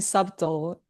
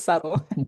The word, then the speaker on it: subtle: For a long time, I was saying subtle. And then a few years ago, one of my friend was saying, "Wait, you pronounce it wrong." It's subtle.